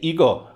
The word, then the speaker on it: Igo: And if you take the Chinese characters you used to write Weiqi, but use a Japanese pronunciation to say them, you say Igo.